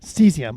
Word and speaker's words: Cesium: name of the company is it cecium cesium cesium okay so they've i saw they were named